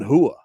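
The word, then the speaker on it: Rua: You know, like the R's are H's. You know, like Amanda Hibas or Shogun Hua. You know, like it's and he spells it R-U-A.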